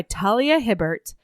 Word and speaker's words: Talia Hibbert: because we are reading mating the huntress by Talia Hibbert We messaged her and that is in fact how you pronounce her name thank you so much for